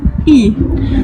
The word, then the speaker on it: И: l'envers, vous la visualisez, mais ça n'a rien à voir avec le N, je le reprononce, c'est un I. И.